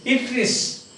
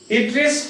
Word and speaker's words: Atreus: That is written Atreus. But it is Atreus. Pronounced Atreus.